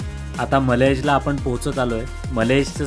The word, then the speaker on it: Mallaig: मलेजचं spelling MALLAIG असं आहे.